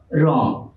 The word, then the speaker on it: রং: আমরা যদি লিখি রং, এর উচ্চারণ কি হবে? রং।